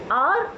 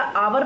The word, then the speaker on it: hour: देखते हैं, ठीक है, आर और आर, इसका प्रोनाउंसिएशन सेम जाएगा हमेशा। कभी भी इसे हावर या आवर नहीं पढ़ा जाएगा, इसको आर पढ़ा जाएगा और सेम प्रोनाउंसिएशन इसके लिए भी आएगा।